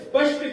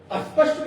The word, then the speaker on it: स्पष्ट: लेकिन देखो सुन लो भाई, हम तुम्हें अस्पष्ट बता देना चाह रहे हैं, जबकि उच्चारण क्या, स्पष्ट। स्पष्ट वो आधा सा है जो